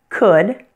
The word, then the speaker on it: could: know how their wood could and should there are three things that you need to watch out for when pronouncing these words the first thing is that the L is silent notice that wood wo